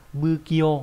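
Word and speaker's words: 不器用: bất vào đọc là bư kyo là vụng về, đúng không? Tùy trường hợp nhé, có trường hợp nó đọc là phư, có trường hợp đọc là bư.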